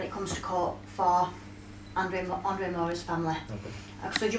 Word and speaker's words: Andre Moura: Andre Moura, am I pronouncing that name right? Yeah, correct.